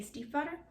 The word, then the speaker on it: Stiefvater: Impossible by Maggie Stiefvater. That's how you pronounce it.